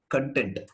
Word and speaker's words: content: Think of the same case with content. If it is a noun, take the long vowel. Content.